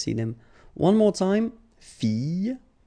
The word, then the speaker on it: fille: So you've got I, and in that case, well, you will have to pronounce I and then the y. Okay, so you get fille, fille. All right, next example is papillon, papillon. Okay, so you have to pronounce this I.